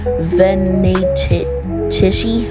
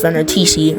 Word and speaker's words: Venatici: Sorry, I had to look up how that was um freaking pronounced cuz I don't know how to pronounce I thought it was pronounced Venitis or something.